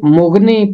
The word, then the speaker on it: مغنی: میر مغنی۔ میر مغنی، میں نے بہت سارے لوگوں کو اسے مغنی پڑھتے ہوئے سنا ہے۔ اس کا تلفظ مغنی نہیں ہے، اس کا تلفظ ہے مغنی۔ مغنی کا مطلب ہے گانے